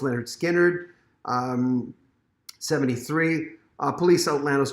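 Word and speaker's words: Lynyrd Skynyrd: oasis definitely maybe 94 leonard skinner pronounced leonard skinner um 73 uh police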